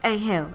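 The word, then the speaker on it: Anghel: Is that how his name is pronounced? Angel.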